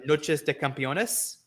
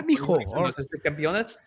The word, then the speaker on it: Noches de Campeones: Lee and Jurlistico on, I believe it was Noches de Campeones. Yeah, hey, you said it right. All right. Yeah. Noches de Campeones.